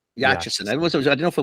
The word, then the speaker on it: Yachison: My last name is Yachison. Yachison.